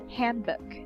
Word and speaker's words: handbook: sound childhood childhood handbook handbook it's not book handbook can you give me